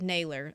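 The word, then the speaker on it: Nailor: I'm going to get this name wrong, but I'm going to It looks like Sailor, but with an end with Naylor.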